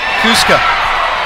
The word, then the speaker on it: Cusco: off on foot Cusco two syllables Cusco yeah okay I'm sure